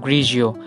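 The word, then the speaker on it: Pinot Grigio: बहुत इतालवी एक प्रसिद्ध व्यक्ति अंगूर पिनोट ग्रिगियो। इसका उच्चारण करें। पिनो का काम हो गया। ग्रिज़ो।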